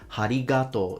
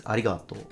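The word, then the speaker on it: ありがとう: And as I listened to it again, he actually put aspiration. He added ha. He says harigato. There is no ha. It's arigato. Cherry blossoms.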